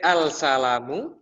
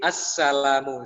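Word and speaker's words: السَّلامُ: If I say assalamu, can I say that al-salamu? Assalamu. It should be assalamu.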